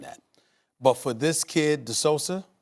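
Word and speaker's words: De Sousa: but for this kid the solsa that's how you pronounce his name he needs to be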